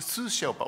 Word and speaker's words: Sous-Sherpa: Jason McDonald, the chief advisor and the G20 Source Shelpa, am I pronouncing correctly? Yeah, Sue Shelpa. It's a Sue Shelpa.